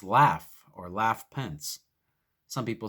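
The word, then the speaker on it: Lafe: not mike pence but his first name is spelled l-a-f-e pronounced laugh or laugh pence some people say leaf pence but it's laugh pence that's how it's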